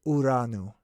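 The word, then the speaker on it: Uranus: That word is not pronounced correctly. Okay, so I'm just going to put that out there. I refuse to say it the way that they want us to say it. That's not how it's pronounced. It's pronounced Uranu. That's how it is.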